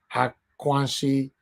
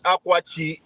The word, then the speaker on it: Akwachi: Akwashi. Is it yes. Akwashi? It's Akwachi. It's derived from two words. Okay, it's derived from the word Akwaji in Northern Cross River, and then Chi is, Delta Igbo, which is God.